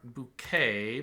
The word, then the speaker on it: bouquet: Rapport, bouquet, parfait, and ragout have a silent T in them.